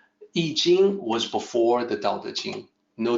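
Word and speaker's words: Yijing: So in that system, it is I Jing. It looks like the way it sounds. So it's much easier for people to pronounce it correctly.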